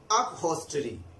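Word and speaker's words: upholstery: अपहोल्स्टरी, here L is silent।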